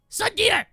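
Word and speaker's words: tsundere: Sundir!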